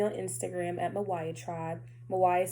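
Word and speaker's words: Mywia: Mawaya is spelled M-Y-W-I-A.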